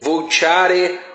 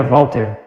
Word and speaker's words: Voltaire: Pronúncia é verdadeira Voltaire, nada de Voltaire. Voltaire é para tolos analfabetos. Qual é a dificuldade de dizer Voltaire? Voltaire, V-O-L-T-A-I-R-I. Nada além disso.